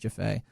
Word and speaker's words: Jafet: Um everybody pronounces my last name wrong, but it's spelled J A F-E and it's pronounced Jaffay.